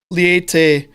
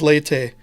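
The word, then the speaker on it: Leite: it definitively by marcio it is not liete laity letty any of the ridiculous other pronunciations we've heard over the years it is leyte and you made that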